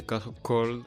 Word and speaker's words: froid: - Well, in this case, "cold" would be "froid", with the French R, you know, it's a bit...